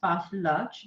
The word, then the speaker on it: pastillage: thing is fast large it's actually pronounced as fast large the S is silent okay but it is